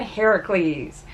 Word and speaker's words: Heracles: you might be wondering why I'm pronouncing Hercules rather than Heracles yes there is a difference Heracles is technically of the correct way of pronouncing it because it is Greek yes Hercules is actually the Roman